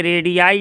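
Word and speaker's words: radii: फिर इसी प्रकार यह रेडि आई है आर ए डी आई आई उच्चारण पढ़ेंगे रेडी आई बहुत लोग रेडियस है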